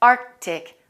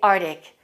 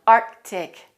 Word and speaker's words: Arctic: c they say arctic you have to pronounce both of those c's it should be pronounced arctic arctic don't say arctic it's a slight k sound arctic arctic the area around